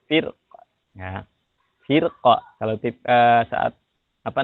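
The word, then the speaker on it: فِرْقٍ: Di kata firqin ini saat wasal saja, tapi kalau saat waqaf itu dibacanya tipis. Firqa.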